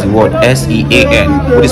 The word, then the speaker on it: Sean: next I'll be asking to pronounce the word s-e-a-n what is pronounced Sean but I said sin so I got that wrongly and next he